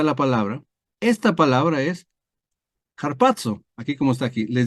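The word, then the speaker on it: ἁρπάζω: ejemplo y ahí nos lleva a la palabra harpazo verdad se dice así harpo la pronunciación es así la palab que como arrebatarse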